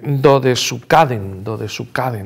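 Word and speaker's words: どですかでん: Justo antes había hecho su última película, que es muy poco conocida, yo le llamo Dodescaden, pero me he traído aquí, pues es imposible pronunciarlo bien, es Dodesukaden, ¿no?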